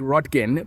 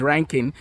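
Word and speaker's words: Röntgen: wilhem uh ranking uh but it's spelled like rodkin but it's ranking so William ranking uh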